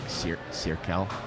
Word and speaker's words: Zirkel: I guess in German it's pronounced more like Cirkel. Oh, okay. I don't know how to say it, but it's not like a Z, it's more like a TS.